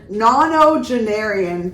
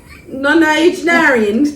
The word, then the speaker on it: nonagenarian: The headline is a nonogenarian killed.